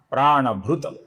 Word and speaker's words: प्राणभृत: फिर नाम है प्राणभूत, जिसमें ये त अपूर्ण है, ये त आगे प आने के कारण तो ही रहता है, अपूर्ण तो ही रहता